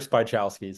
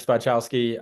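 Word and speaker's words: Spychowski: no problem uh spy chowski so it's spelled pretty phonetically but um yeah spy chowski um I am the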